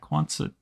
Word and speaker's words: Quonset: And yeah, Quonset is the right pronunciation.